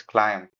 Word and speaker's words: climb: It's not climb, it's climb.